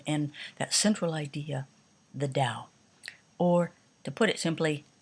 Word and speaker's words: Tao: spelled with a t and it's pronounced dao and the question is